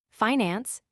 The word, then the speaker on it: finance: The pronunciation of this word with the i long and the accent on the first syllable is one of America's most precious discoveries and possessions.